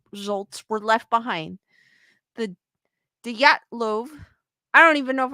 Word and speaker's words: Dyatlov: In January of 1959, a fifth-year student at Ural Polytechnic Institute named Igor Dyatlov, I'm going to say the D is silent, Dyatlov. You're saying it correctly.